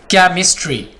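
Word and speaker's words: chemistry: केमिस्ट्री, क्या है? ये देखिए हमारे पास सी है, सी के बाद एच आ गया तो ये साइलेंट होगा।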